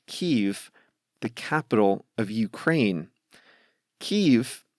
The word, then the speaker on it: Kyiv: Kyiv is close to what they say in Ukrainian, but I grew up calling that city Kiev, which is more aligned with the Russian pronunciation of that word.